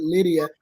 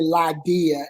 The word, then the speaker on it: Lydia: If we would say in today's time, we would pronounce it Lydia, but I would say Lydia in that time.